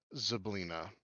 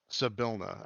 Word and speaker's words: Zabilna: He pronounced the name Zablina. Okay. Zabilna, actually.